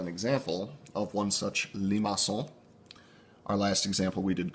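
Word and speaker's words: limaçon: what I have heard apparently there's this cool C in French with a tail on it this is pronounced Limassol Limassol takes on one of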